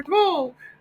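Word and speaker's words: tole: another image it's called paper toll and paper toall it's pronounced and it's paper t o l e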